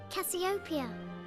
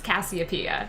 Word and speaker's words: Cassiopeia: it didn't study astronomy but Cassiopeia is not how anyone pronounces the name of that consolation it's Cassiopeia which makes a lot more sense because the P is emphasized it's really killing me